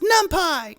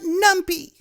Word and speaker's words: NumPy: It's pronounced NumPy, not NumPy.